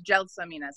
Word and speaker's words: Gelsomina: It's Gelsomina, soft G.